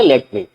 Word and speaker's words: let me: कभी भी हम लेमी नहीं बोलेंगे। हम प्रॉपर बोलेंगे लेट मी।